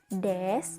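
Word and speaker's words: です: Tidak hanya satu, partikel penanda predikat ini ada 2, yaitu des dan mas, yang ditulis dengan huruf desu atau masu dalam bahasa Indonesia, namun dalam pengucapannya cukup dengan kata des atau mas.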